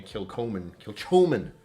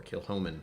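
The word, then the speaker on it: Kilchoman: next week right now I'm drinking a kill Coleman um or kill Homan as it's supposed to be said it is pronounced incorrectly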